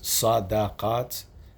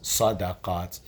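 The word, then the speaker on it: صدقات: So the fact that this word is pronounced one way 8 times, sadaqaat, and pronounced differently 1 time, there's a meaning in that.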